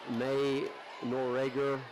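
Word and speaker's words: Noerager: And May Norger is how I'm pronouncing it. If Homewood folks are watching this, forgive me. I'm just doing the best I can. N O E R A G- E. Nor.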